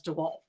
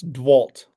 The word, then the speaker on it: DeWalt: ever gasped um but the brand says DeWalt my dad said it's dwalt like you and you remove the E yeah it was something